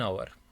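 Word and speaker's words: hour: She waited for एन आवर। तो spelling यहां पर जो है वह वोवेल की निकलती है और साउंड वोवेल की होगी। तो यहां पर एच जो है वह साइलेंट होगा।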